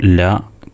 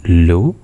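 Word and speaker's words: لام: എന്ന് പറയുന്നത് ഒന്ന് ശ്രദ്ധിക്കുക ശരിയായ ഉച്ചാരണം ലാം എന്നാണ് അവസാനം ഫുൾ സുക്കൂൻ കൊടുത്തിട്ട് എന്ന് പറയുന്നത് ഒന്ന് ശ്രദ്ധിച്ചാൽ മതി ലാം എന്നല്ല ലാം അതാണ് ശരിയായ ഉച്ചാരണം ഇനി താഴെ ഒരു മൂന്ന്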